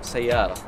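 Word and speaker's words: سيارة: Car, sayara. Sayara. How do sayara. I not know this? Sayara. Okay, then that's going to be ingrained in my brain now. Sayara, okay.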